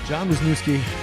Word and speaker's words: Wisnieski: episode with moonlighter Wisniewski welcome to Moonlight Graham show am I pronouncing your last name right that is that is correct yes I feel like